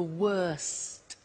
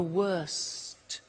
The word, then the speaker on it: worst: the superlative is the worst notice the t bad worse the worst don't forget to pronounce the t and then far the